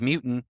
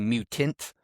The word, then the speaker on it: mutant: Not much that rhymes with mutant even though it's technically mutant, but most people don't pronounce the T, do they?